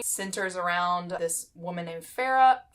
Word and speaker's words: Feyre: around this woman named pharah pharah feyre i don't even know that i always say her name wrong y'all centers on one